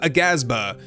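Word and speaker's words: Aghasba: an eye on the altars in towers of a gasba and yes that's how you pronounce that word dreamlet games invites players to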